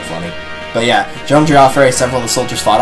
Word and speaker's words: Geoffrey: No, it is not Jeffrey. In the sequel to this game, there is not voice acting, but there is a narrator. He pronounces it Geoffrey. It is, in fact, Geoffrey, not Jeffrey. I know this for a fact.